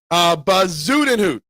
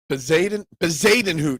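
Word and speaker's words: Bezuidenhout: Bazudenhout. Bazadenhout is how it says. I finally learned how to say it this morning, K1. I was watching him this morning. They said Bazadenhout.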